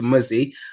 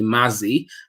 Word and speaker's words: Mizzy: and even when I shortened my name to mizzy I still get people calling me Mazzy I don't know how that